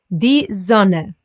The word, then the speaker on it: Sonne: The German O sound is similar, but not the same as the English one. O. Listen to it here. Die Sonne, or wohnen.